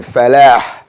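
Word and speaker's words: فلاح: But when you say hayya ala al-falah, that's a hard H at the end of that. So you just want to be able to tell the difference between salah and falah. Falah has the hard H, salah has a soft.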